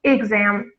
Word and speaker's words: exam: by the exam results exam with a short e exam results exam